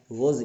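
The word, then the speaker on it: was: अब वॉज भी नहीं था, वॉज ये वाज नहीं होता है। बहुत लोग क्या है कि इसका उच्चारण गलत करते हैं, गलत पढ़ते हैं या पढ़ाते हैं, ठीक है ना। वाज कहते हैं, वाज कभी नहीं होता, वॉज होता है।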